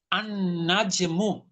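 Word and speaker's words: النجم: আলিফ লাম দিবেন দেখেন, তখন লামের উচ্চারণটা আপনি করতে পারবেন না। আন নাজমু, আন নাজমু, আচ্ছা। লামের উচ্চারণটা আছে? জি না, না। নাই। আপনি লামের উচ্চারণ করতে চাইলেও করতে পারবেন না। দেখেন, তাহলে ভেঙে ভেঙে বলতে হবে আল নাজমু। আপনি একত্রে বলতে গেলে লাম বাদ দিয়ে পড়তে হবে আন নাজমু।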